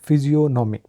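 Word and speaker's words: physiognomy: आज का हमारा पहला वर्ड है फिजियोनॉमी। इसमें जी जो है वो साकित हो जाएगा, फिजियोनॉमी।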